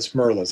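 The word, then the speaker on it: Smerlas: i said i i i know it's fred smirles i may have said uh i i think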